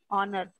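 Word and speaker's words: honour: क्योंकि ma'am first H word जो है वो साइलेंट है और प्रोनाउंस ओ से हो रहा है, ऑनर से हो रहा है एग्जैक्टली इसलिए।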